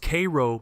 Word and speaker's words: Cairo: Cairo, Illinois, pronounced Cairo by everyone who lives there or has ever lived there, and don't let anyone tell you otherwise, sits at the exact